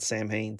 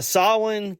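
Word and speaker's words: Samhain: Uh, Sawin's usually the one that most people get wrong, but we've heard over and over again that it's not Sam Hayne. So, uh, Sawin came when the fields were bare and daylight fled early.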